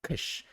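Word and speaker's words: KIIS: The radio station is pronounced like Kish and is famous for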